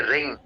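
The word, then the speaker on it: wring: मरोड़ने को बोलते हैं रिंग। इसमें डब्ल्यू साइलेंट है रिंग।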